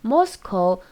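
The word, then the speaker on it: Moscow: 가리키는 영어 단어입니다 자 모스크바를 영어로는 모스코 코라고 발음합니다 따라해 보세요 자 모스크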